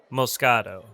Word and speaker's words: Moscato: It's pronounced Moscato.